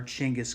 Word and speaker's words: Genghis: and i'm thinking about genghis khan or chingas khan is another way to pronounce it genghis or chingas i prefer genghis although it's not the proper everybody tells me it's changus but i'm so used to genghis i'm going to continue calling it genghis so as i'm